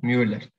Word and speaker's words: Müller: exactamente, ese mismo, sí, Müller. Ujú. Bueno, ahí tenés cómo se pronuncia ya.